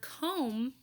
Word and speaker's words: comb: in the same letter but in the word comb the B is silent in the word Club